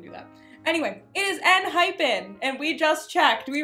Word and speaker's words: Enhypen: We thought there was an extra H. Yeah, we were calling it hyphen. It's not hyphen, it's hypen. Like, not the little dash, but like, you know.